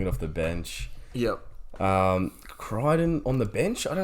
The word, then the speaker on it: Crichton: Wyden for Crichton. it rhymes.